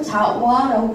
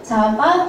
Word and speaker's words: 자와: 여러분, 우리 사실 발음에 따라서 자바라고 부르기도 하고 자와라고 부르기도 해요. 자바, 자와 두 가지 다 맞는 표현이고요.